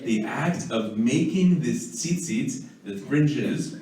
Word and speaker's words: tzitzit: The fringes, that's the Hebrew word for fringes, which, by the way, it's tzitzit, whether it's plural or singular, it's not seats.